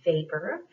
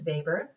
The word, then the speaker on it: Weber: talk about is max vapor it's a german name so it's spelled weber but it's pronounced weber and what he believed